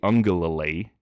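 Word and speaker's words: Uiagalelei: teams um and I've really struggled recently uh Unger Lily I know you're impressed that I pronounced that name correctly um like I've said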